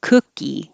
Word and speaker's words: cookie: people not everyone hybrid cookie the vowel in cookie is uh like took so no lip rounding